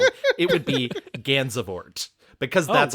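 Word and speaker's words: Gansevoort: a town near where I grew up called Gansver. Um that is absolutely not how you would pronounce Gansver in any other place in the world. It would be Ganzabort because that's how it's spelled.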